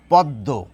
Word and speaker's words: পদ্ম: অর্থাৎ দয়ের সঙ্গে যুক্ত রয়েছে, দ দুবার উচ্চারিত হবে, হয়ে যাচ্ছে পদ্ম।